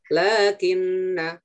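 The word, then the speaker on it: لَٰكِنَّ: Lakinna. Hati-hati nanya dibaca pendek. Ya, walakinna. Hati-hati nanya dibaca panjang. Nah, tetap dibaca panjang ya. Kalau lakinna kan nggak ada wanya, berarti nanya pendek.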